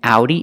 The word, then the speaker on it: Audi: makes a long a in Audi it makes a sound ow and in because it